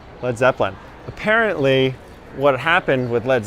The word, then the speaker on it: Led Zeppelin: It used to be in the beginning L-E-A-D, Led Zeppelin. But too many people were mispronunciating it and calling it Lead Zeppelin. So they changed it. They dropped the A.